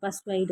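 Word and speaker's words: persuade: இந்த வேர்டு இப்படி தான் ப்ரொனவுன்ஸ் பண்ணணும், பர்ஸ்வைட் அப்படின்னு சொல்லிட்டு, ஓகேங்களா?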